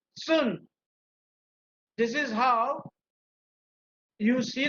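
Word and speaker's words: 寸: Okay, अभी हम बात करते हैं चुन, अथवा तो चाइनीज प्रोनाउंसिएशन इज सुन.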